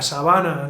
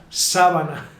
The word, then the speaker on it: sábana: Como en la sabana, los leones. Pero no. En este caso es sábana. Ah, o sea: Te refieres a una...